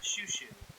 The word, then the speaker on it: Chou-Chou: Uh, well, you didn't say Lily Chowo, so that's good. Oh my god. Can you imagine? There's not even a W there.